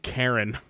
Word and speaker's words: Charon: oh there we go is a ch just a k sound charon is the boatman pronounced karen yep nailed it uh